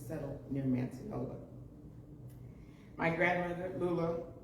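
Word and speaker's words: Lulu: My grandmother, Lula, her name is spelled L-U-L-U, but they call her Lula.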